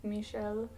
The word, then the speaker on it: Michelle: was pretty hilarious that it's pronounced Michelle in French because that reminds me